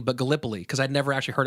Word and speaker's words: Gallipoli: sure that I knew that it was not Gallipoli but Gallipoli cuz I'd never actually heard it pronounced before Oh god Bless You mrs.